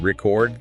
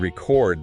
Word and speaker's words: record: Like the difference between record the noun stressing the first bit and record the verb where you stress the second bit.